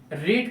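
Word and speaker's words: read: जैसे रीड का third form जो होता है वो रेड हो जाता है।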